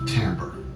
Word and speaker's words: timbre: being the same thing and that tamper is pronounced tamper it is interesting that we use the word